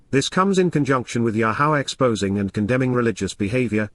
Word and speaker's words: Yahowah: And then, Yahowah, Yahowah, the proper pronunciation of the name of Eloah, God has directed in his Torah, teaching regarding